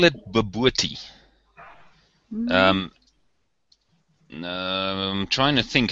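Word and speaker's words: bobotie: We call it babooty. I'm trying to think. How would we spell it if I had to spell it the way we pronounce it? That's kind of difficult. But it's called babooty, and it's a mixture of spicy meat.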